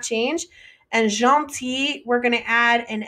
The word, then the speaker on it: gentille: It's still pronounced pretty much the same. Il est gentil, elle est gentille.